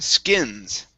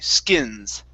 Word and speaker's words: skins: you is the word skins okay everything else is really good actually okay so instead of ski schemes they use a short eye skins skins okay good yeah nice job